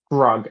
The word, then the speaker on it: Grog: Do you say his name is Grog Grug. or Grog? Grog.